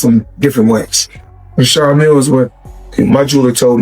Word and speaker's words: Richard Mille: No, I like to call this a Well, they people pronounce them different ways. Richard Mille is what my jeweler told me, so.